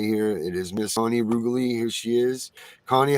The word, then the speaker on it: Reguli: Like regular. I always tell people like regulate.